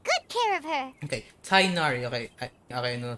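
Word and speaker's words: Tighnari: Okay, Tainari. Okay, I know how to pronounce it now.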